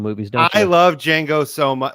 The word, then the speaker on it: Django: I have 7 for Django. Okay, so the D is silent.